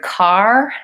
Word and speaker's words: car: The word car has the same sound as father or the O sound. So car has the same vowel as in father.